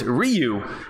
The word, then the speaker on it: Ryu: Nicholas Baltzal, it's Ryu.